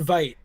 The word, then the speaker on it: Veidt: Or did you say wait? Oh, it's so confusing. But that's okay. Well, yeah, Zeke on the board said it rhymes with night, so I'm assuming. Okay, yeah, so Orin Veidt.